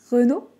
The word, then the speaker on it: Renault: non en baissant un peu le l'intonation à renault renault dites moi si ça marche dans les